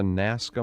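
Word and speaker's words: Nazca: her Consciousness to the Forefront what are the nasca markings is that how it's pronounced yeah in southern south well in southern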